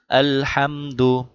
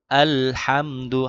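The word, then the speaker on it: الحمد: আলহামদু আলহামদু হা। হা গলার ভিতর ঢুকে। আর আলে এমন রকম অনেকে আলে কলকলা হয়ে যায় আল যেহেবা আটকিয়ে রাখবো আলহামদু আলহামদু আলহামদু লিল্লাহি লিল্লাহি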